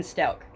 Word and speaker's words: Stauch: That on or about January 27th, 2020, the defendant, Leticia Stauch, now that's Stauch, I believe it's pronounced Stauch, that's how everybody, like all the reporters pronounce it.